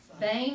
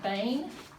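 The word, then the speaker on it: בן: Ben, Bane, it's more like Bane. That Siri has that A sound.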